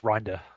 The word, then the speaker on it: Rinder: So it's pronounced Rinder. Which is, All Dutch right.